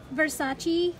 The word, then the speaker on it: Versace: ahorita voy a checar qué es bersatti o versace y mucha gente me dice de versace pero lo pronunció como aquí lo pronuncian y así aprendí así es que bueno lo voy a decir de las dos maneras versace y versace ya